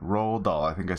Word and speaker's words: Roald Dahl: It felt like, you know, it felt like it captured that, I always have a problem pronouncing Roald Dahl, the author's name, Roald Dahl.